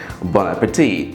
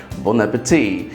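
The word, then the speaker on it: bon appétit: তেমনি একটি ফ্রেজ হচ্ছে bon appetit.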